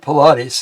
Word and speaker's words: Paulides: Okay, David Pilates, his last name is spelled Paulides, is an American former